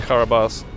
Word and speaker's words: Carabosse: And is it the Karabas, or how do you pronounce that? Yes, that's Okay. Karabas.